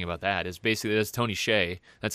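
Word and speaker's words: Tony Hsieh: that's what's interesting about that is basically that's Tony Shay that's how you say it I I learned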